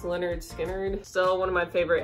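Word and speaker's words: Lynyrd Skynyrd: eat grandma two ribbons Leonard skard pronounced Leonard skinnard still one of my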